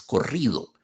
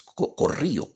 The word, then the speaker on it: corrido: tienen corrido de nuevo elisión de la d es corrido es corrio al más valiente la ponada el ponada verdad corrio corrido Se corrió se quitó